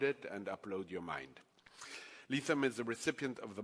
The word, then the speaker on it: Lethem: Lethem. If you think of lethal, you'll never.